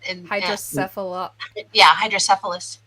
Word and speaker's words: hydrocephalus: And Hydrocephalus.